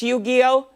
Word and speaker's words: Yu-Gi-Oh!: In 2019, the company that makes Yu-Gi-Oh!